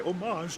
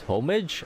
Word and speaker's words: homage: that's how you pronounce homage homage homage homage lady forage I wholeheartedly hope you make it to the finish and emerge as the next superstars of penon the H should be silent now then is there